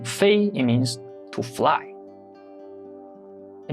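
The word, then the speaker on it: 飞: take another example Fei in the first tone Fei it means to fly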